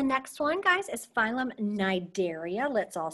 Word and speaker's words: Cnidaria: Okay, so the next one, guys, is phylum Cnidaria. Let's all say it, Cnidaria. Kind of sounds like that yogurt Activia when I just sang it like that. you'll notice the C is silent, okay?